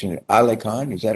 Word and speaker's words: AliKhan: I want to make sure I pronounce it. AliKhan, is that right? Is AliKhan, is that it? Yes, Senator. AliKhan.